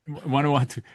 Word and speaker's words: Vanuatu: I'm going to try to pronounce the little island you were talking about. Vanuatu. Vanuatu. It's perfect.